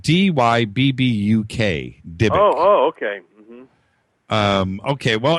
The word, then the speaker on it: Dybbuk: Number one, when we were talking about possessions, the Dybbuk box.